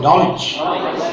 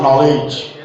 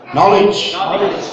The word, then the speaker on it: knowledge: Pronounce it, knowledge. Not knowledge. Knowledge.